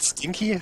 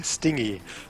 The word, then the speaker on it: stingy: Not stinky, stingy.